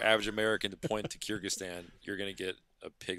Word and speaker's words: Kyrgyzstan: around the world but the the am i pronouncing this right here's the Kiersey kazakhstan kyrgyzstan yeah kyrgyzstan right and i know exactly where it is